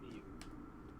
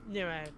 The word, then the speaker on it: Niue: Also, until tonight, I was totally pronouncing that island wrong. I'm probably not pronouncing it perfectly, but Because I always, based on the spelling, I always pronounce it like Niue. it's definitely not that. Yeah, Niue is typically what you will hear in New Zealand media from like Pacific correspondents and such, so Fair enough.